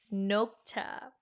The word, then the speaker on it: 녹차: 녹차. Notice, I'm telling you, impossible to forget if you make connections to what you already know before. Knock, knock, knock. 녹차.